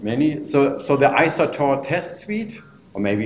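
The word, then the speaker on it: Isartor: So the Isotor test suite, or maybe it's just the pronunciation. In German you would say Isator.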